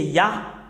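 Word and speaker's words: יה: Concernant la prononciation de Yod et He, c'est Yah. C'est Yah qu'on prononce.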